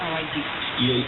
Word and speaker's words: Aballí: Estados Unidos como que se pierde un poco la pronunciación de la doble L, pero en realidad es Aballí.